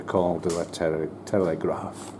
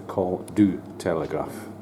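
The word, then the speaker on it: Col du Télégraphe: the call here the call to the te Telegraph or should I say it correctly the call do Telegraph okay that was just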